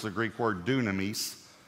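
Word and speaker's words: δύναμις: it's the Greek word Dunamis do we say Dunamis is the way we would say it but Dunamis is why it would be pronounced and it means power but it means explosive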